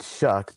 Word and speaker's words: Shuck: Now now know that you pronounce it shuck because of its Scottish roots.